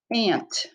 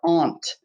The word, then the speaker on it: aunt: instruments and with their voices music number ten aunt or aunt your aunt or aunt is the sister of